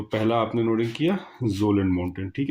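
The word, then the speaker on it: Kjølen: सबसे पहली हेडिंग डालिए जोलन माउंटेन्स। ठीक है, के साइलेंट होगा, जोलन माउंटेन्स।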